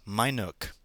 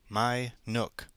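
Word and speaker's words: Minuke: those black lard animals they christened the place my Nook m i n u k e my Nook yes that's what I said too and not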